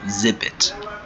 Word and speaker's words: exhibit: Careful, H is silent, so exhibit.